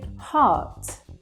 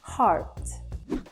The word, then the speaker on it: heart: The same with heart. You don't really hear that R sound, but in American English, you do when they say heart.